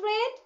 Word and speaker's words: read: had read the books why I pronounce it read because after head it will be past participle form read read read I